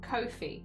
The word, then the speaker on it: Ko-fi: It is Kofi, isn't it? It's not coffee. I think I used to call it coffee and I've been trying to change my ways. It's one of those things where you mispronounce it for a long time, so you're just, I'm focusing. I think that it is Kofi, not coffee.